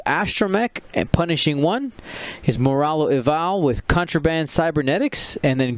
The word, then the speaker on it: Moralo Eval: And so I do like the idea of Moravalo. I'm a big fan of Moravalo. I actually never played Moralo Eval. Is that how you say it? Moralo. Moralo Eval, yeah.